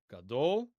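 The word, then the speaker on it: גדול: Gadol, stress on the final syllable.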